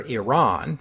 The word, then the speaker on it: Iran: isn't over yet because different English speakers pronounce Iran in different ways I prefer Iran because that's the pronunciation closest to how the Iranians say it although the consensus among